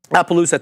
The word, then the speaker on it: Appaloosa: app app USA management has also boosted into Appaloosa thank you ader 37% of this uh of